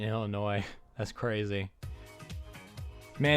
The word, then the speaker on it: Illinois: I just pronounced the S in Illinois.